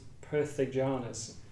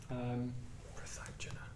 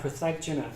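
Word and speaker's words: pṛthagjana: which I think is prithigjanas. which I hadn't heard before, but it basically just means like ordinary folk. Prathagjana. Say again? Prathagjana. Prathagjana. Okay, great. My pronunciation was slightly off.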